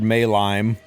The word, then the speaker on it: Maylime: Sputnik saying that he, one of my Hall of Trials guide, he learned from me that it's actually pronounced Demon Lord Maylime.